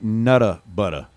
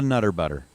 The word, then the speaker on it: Nutter Butter: You got to pronounce it nutta butter. It's a nutta butter, not a nutter butter.